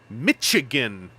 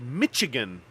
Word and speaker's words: Michigan: wrote um during that I pronounced it at one point Mitch chicken and there was a comment oh is Ken okay mimickry is Ken mimickry you're asking if Ken's okay I'm fine uh so there was one point where I said Michigan and then we had a comment in there pop up saying uh I I did not ever need to know that that's how evangelist pronounces uh Michigan um so I said